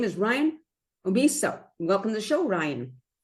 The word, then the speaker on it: Omeasso: His name is Ryan Omeasso. Welcome to the show, Ryan. Yes, thank you, Nancy. Thank you very much. Yeah, it's Omeasso.